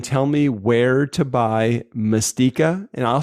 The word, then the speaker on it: Mastika: It's Mastika or Mastija. But it's M-I-S or M-A-S? M-A-S, sorry. M-A-S. So it's spelled like mas as in mast, as in like what's on a yeah, Mastika liqueur.